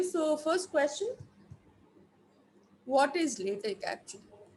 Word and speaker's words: LaTeX: So it is because the people who gave this said that X should be pronounced as K, and that puts a full stop, right?